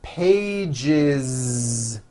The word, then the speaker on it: pages: One page becomes two pages with that voiced Z.